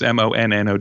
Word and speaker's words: Monnow: It's a really funny, it's a coincidental name because I thought it was Mono Valley, but it's the river Mono, which is Monnow, and it's a river